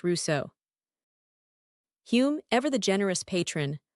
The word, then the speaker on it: Rousseau: The most famous and most painful is his friendship and eventual falling out with Rousseau, pronounced Russo.